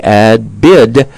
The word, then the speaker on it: adBidtise: She formed her business called adBidtise. I just want to make sure people get this ad and then B-I-D, adBidtise. I think I'm saying it right, Kat.